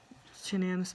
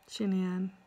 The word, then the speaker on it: Shanann: So Sandy, Shanann's mom, pronounces, from what I heard from Dr. Phil, she pronounces her name as Shanann. She says Shanann. And Chris Watts pronounces it as Shanann.